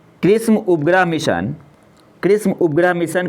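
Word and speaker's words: XRISM: रखना है सबसे पहले एक्स आर आई एसएम इसे प्रोनाउंस करते हैं कृष्म nasa's एक्सप्लोरेशन एजेंसी किसके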